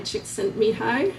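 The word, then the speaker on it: Csikszentmihalyi: And as the bonus for having suffered through this slide, I'm going to tell you how to pronounce mihi. Chick sent mihi.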